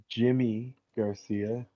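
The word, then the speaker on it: Yimi Garcia: His name is Jimmy Garcia, but his name is spelled Yimi. Makes sense to me. Yeah, Like reverse on the J, yeah. like American J.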